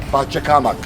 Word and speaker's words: Pachacamac: Pachacamac.